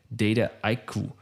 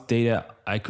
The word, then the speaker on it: Dataiku: Is it Dataiku or is it Dataiku? So there's a lot of different pronunciations, especially since we're such a global company. But the word itself is a portmanteau, so a mashup of data and haiku, right?